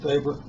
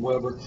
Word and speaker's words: weber: that's also called a weber german it's actually pronounced faber and that's probably not a very good german pronunciation so i'll stick with the americanized present pronunciation weber but be aware that you're mispronouncing it when